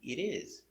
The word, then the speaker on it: it is: For the positive, it is, the T is pronounced with a D sound.